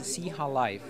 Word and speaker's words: Xihalife: I guess it's, what's the correct way to pronounce it? It's Xihalife.